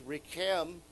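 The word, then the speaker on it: רחם: And so we see the same spelling. It's just one change of the vowel. It's Rechem, same.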